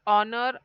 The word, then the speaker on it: honor: then in last one honest honor our air here H is silent here letter H is